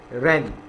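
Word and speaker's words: wren: इसको हम रेन नहीं पढ़ेंगे, इसको हम क्या रीड करेंगे? रेन. इसके अंदर जो W वर्ड है वो क्या है? साइलेंट. तो हम इसे रीड करेंगे रेन.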